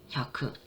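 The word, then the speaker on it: 百: 그래서 야크라고 읽어요. 일본에선 야크.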